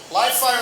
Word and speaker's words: Livefyre: Am I pronouncing that right? Livefyre? You are. Livefyre and Salesforce have agreed to integrate their respective